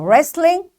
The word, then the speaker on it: wrestling: this w is silent wrestling is a game you know so wrestling this w is silent because there is r after this w likewise wrong wren it's